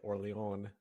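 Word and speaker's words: Orléans: and how many people made fun of me for pronouncing it orle on uh I'm not even going to try to pronounce names by their Regional pronunciation anymore um it's worth I did back you on that one Tim I think I did it as well yeah no I mean that's the right way to pronounce it but apparently not in the United States they not allowed to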